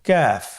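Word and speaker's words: كاف: নম্বর হরফটির নাম হলো কাফ তৃতীয় নম্বর হরফটির নাম কাফ কাফ উচ্চারণের ক্ষেত্রে অবশ্যই পাতলা করে উচ্চারণ করতে হবে এবং তিন আলিফ টেনে পড়তে হবে।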